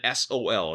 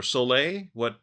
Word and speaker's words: Sol: I usually pronounce it as sole, like the sun in Spanish, but Okay. I've heard people say it in different ways, so I think either way works just fine.